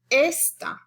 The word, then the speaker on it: esta: stress a different syllable for example esta it's on the second to the last syllable esta means this in